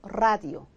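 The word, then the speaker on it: radio: 들어 이런 거야 어떻게해요 라디오 그냥 라디오 아니고 라디오 라디오 그래서 문두에 올 때는 아 그니까 어두에 단어의 맨앞 적에는 마치 이게 두 개 있는 것처럼 발음해 줘라 이다는 거죠 그죠 그래서 로사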